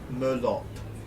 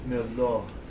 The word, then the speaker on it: Merlot: It is, by the way, it is not Merlot. It is Merlot. The T is silent.